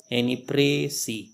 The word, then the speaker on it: précis: जैसा कि आप लोग स्क्रीन पे देख रहे हैं कि प्रेसीज comes from the French word précis, so say it like this, précis।